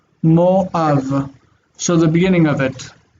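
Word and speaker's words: מואב: This is going to be pronounced Moav. Moav.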